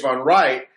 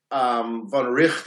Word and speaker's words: von Wright: von Wright, von Richt, I think it's pronounced.